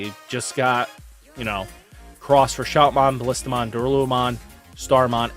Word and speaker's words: Xros: Yes, I know that it's supposed to be cross 5, but I've grown up with, you know, hearing ×5. So, yes, cross 5 is the proper pronunciation if you go for Japanese, but it's ×5 or cross 5, your choice.